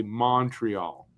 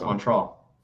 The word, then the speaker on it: Montreal: if you're not most people will say Montreal and it's just like that no it's Montreal it's Montreal like a u instead of an O if you're from here that's how you say Montreal how do you say